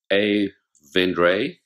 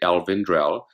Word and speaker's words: El Vendrell: near the town of Avendrey. And, you know, if you phonetically would pronounce it the English way, it would be Alvendrell.